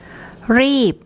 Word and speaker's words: รีบ: And again, when you hear Pom pronounce a word with an unreleased P final consonant, you'll hear how it's different to the English pronunciation. This word means to hurry. รีบ รีบ รีบ Okay.